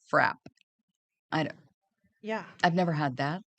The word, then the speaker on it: frappe: in Massachusetts, they call those milkshakes, and it is pronounced frap.